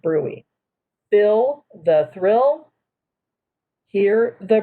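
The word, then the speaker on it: bruit: the brewee ruby is spelled b-r-u-i-t but it's pronounced brewey bill the thrill hear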